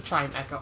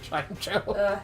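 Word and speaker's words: Chimecho: Yeah, it probably is pronounced a chime echo. I just I'm hardcoded to pronounce it chime cho.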